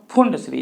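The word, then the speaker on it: Pfund: series और Brackett series और फैंड्री यहां पे पीस साइलेंट है तो बच्चों इस तरीके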